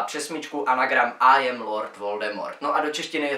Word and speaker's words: Voldemort: Voldemort, jak řekla sama J.K. Rowlingová, by se správně měl vyslovovat Voldemort. A to proto, že je to z francouzské fráze Voldemort, neboli utéci smrti.